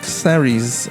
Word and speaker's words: Clary: I think I'm at Clary's, actually. Is that how you pronounce it? It's like Mary, so it's Clary's.